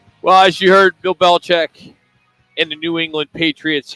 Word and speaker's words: Belichick: all been pronouncing Bill Belichick's name incorrectly over the years. We've all been saying it wrong. Check out how Bill says it. It'll blow your mind. My dad's name was Stephen Nicholas Belichick.